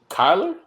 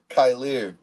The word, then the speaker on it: Kyer: pronouncing my name bro Kyler it's not how you say it Kyer Kyer oh I don't